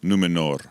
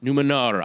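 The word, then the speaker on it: Númenor: island kingdom of numenor well-pronounced r on the end numenor numenor i don't want glenn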